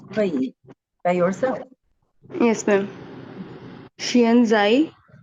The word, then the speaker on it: 现在: Xianzai. Pay attention. Xianzai. Both of the syllable at the first tone.